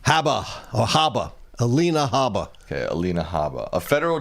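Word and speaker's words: Alina Habba: Alina Haba.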